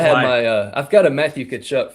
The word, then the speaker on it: Tkachuk: There's obviously a T in the name. And shout out to Soupy. As Joe says, T. Tkachuk. Yeah. Tkachuk. Well, I should have had I've got a Matthew Tkachuk 4 Nations jersey.